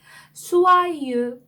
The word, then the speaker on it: soyeux: 불어에서 오는 항상 오 발음이 나고요. 이그레크가 오 뒤에 왔죠. 네, 이그레크는 프랑스어에서 이 발음이 항상 나요. 그러다 보니까 이 오하고 이 발음이 합쳐지면 와 발음이 나거든요.